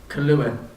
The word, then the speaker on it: Kahlua: question number seven what flavor is the liqueur kahlua that's what flavor is the liqueur kahlua k-a-h-l-u-a